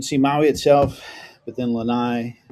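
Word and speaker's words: Lānaʻi: You can't really see them from here, but you can see Maui itself, but then Lanai, which the Hawaiians pronounce Lanaui, and then Kaho'olawe is a big one you can see.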